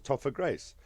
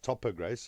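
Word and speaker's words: Topher Grace: Grace was the guy I don't know if that's how you pronounce his name it's spelled t pH so I think it's pronounced topper Grace here we go topper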